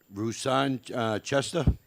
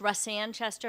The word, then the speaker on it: Russ Sanchester: no questions thank you okay the chair recognize roussan chester and uh supports the bill am i saying